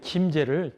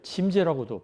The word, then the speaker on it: 김제: 가까운 데 있는 김제를 짐제라고도 발음했어요.